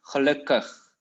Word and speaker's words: gelukkig: In the end, you pronounce it as kug, gelukkig.